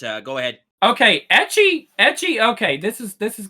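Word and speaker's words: ecchi: everybody today all right edgy is basically it's the letter h edgy is how they say h in japanese it's hentai hentai means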